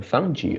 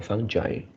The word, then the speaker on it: fungi: yeah i think uh there are two pronunciation for this word which is uh fungi or fungi yeah so it's both